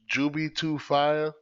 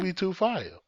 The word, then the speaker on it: Jubi2Fye: Jubi2Fire.